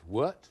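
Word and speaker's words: wort: word meaning useful plant wart yes that's exactly right well done well done in fact it's spelled w r t but generally pronounced wart but if you pronounce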